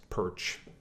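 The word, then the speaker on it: Pyrcz: it's not it's not it actually is just pronounced perch that's the way our family pronounces it we spent about 100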